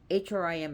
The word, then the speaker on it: Hrim: it's pronounced h-r-e-e-mareem is hrim is pronounced cream as is as if it was spelled h-r-e-e-m so a m m